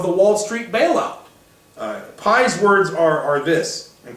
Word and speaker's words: Pye: a gentleman named Jason Pi Pye is how you spell that last name Jason Pi entitled why